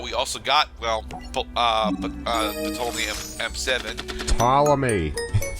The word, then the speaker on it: Ptolemy: Ptolemy. Fine, The P is silent.